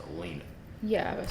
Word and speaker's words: Alina: Trump's attorney um pretty sure it's pronounced Elena yeah I would say